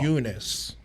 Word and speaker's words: Namajunas: So the co-main was Weili Zhang versus Thug Rose Namajunas, whatever you want to say. Namajunas. Way, say it Nah, right. bro, it's you don't pronounce a J, fool, at all. Namajunas. It's Eunice, Namajunas.